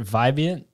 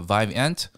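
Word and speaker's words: Vivant: pronouncing it wrong but is it vivian uh it's actually a vive ant so the name came from vive which is energy and ant it's actually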